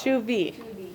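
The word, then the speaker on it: Chauvet: still not there no oh no no it's shoe v shoe like it's shoe v it's shoe v yeah did you take french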